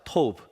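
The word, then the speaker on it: טוב: 토브. 그래서 박토부, 김토부 이름도 지어보라고. 기억이 안 나시면 다음부터 너 탑이야 할 때 탑, 토브, 탑 이렇게 비슷하죠 발음이.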